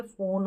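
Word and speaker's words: phone: और पी एच जो है इसको फॉ पढ़ते तो ये फोन हो गया।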